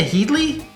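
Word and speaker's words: Lena Headey: there yeah matt smith lena headley if i'm saying it right yeah heady head heady um you know you all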